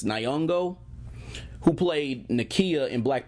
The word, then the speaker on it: Nyong'o: to say her last name I think it's Nyong'o who played Nakia in Black Panther refused to